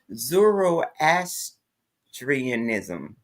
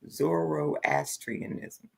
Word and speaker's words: Zoroastrianism: it um I didn't even know how to pronounce it until you said it to me today Zoro asianism Zoroastrianism okay yeah never heard of it until you